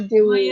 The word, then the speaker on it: Dewey: My name is Dewey. And that is pronounced Dewey like the Dewey Decimal System.